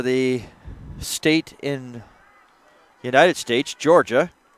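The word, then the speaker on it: Jorja: Named after the, probably could say, Georgia University or the state in United States, Georgia, spelled J-O-R. Looking at the spelling once again, just to confirm. J-O-R-J-A, you pronounce it Georgia.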